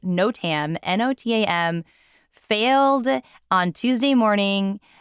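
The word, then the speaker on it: NOTAM: country a Computing program called I'm gonna hopefully pronounce this correctly no Tam n-o-t-a-m failed on Tuesday Morning preventing flight notices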